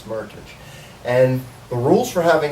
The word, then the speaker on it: Meritage: A Meritage, actually, yes, a Meritage rhymes with heritage.